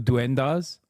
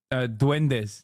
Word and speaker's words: duendes: When he came out with the fucking truth of duendas. Did I say it right? When no one else would. I'm sorry. It was over for me. Ok. Duendes, not duendas. Duendes!